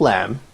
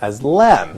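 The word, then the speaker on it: لام: Because here, the alphabet lam is written, and it's not pronounced la. It's pronounced as Yeah. lam, Yeah.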